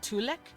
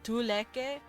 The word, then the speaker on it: tulek: So tulek would be technically tuleke, but they just kind of forget to pronounce the E over time.